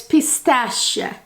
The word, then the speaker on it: pistache: The Italians pronounce it pistacchio, and in French it's pistache. It's a sh sound in French, and Italian it's cut sound, pistacchio, you know?